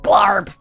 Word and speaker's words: Glarb: So you said it's Glarb? Glarb. Yeah, but you got to give it some guttural oomph when you say his name. Yeah. Glarb.